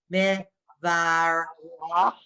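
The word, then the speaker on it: מברך: No, it's just that's silent inside. It's just meh, var, rach.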